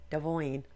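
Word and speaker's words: Devoin: Devoyne.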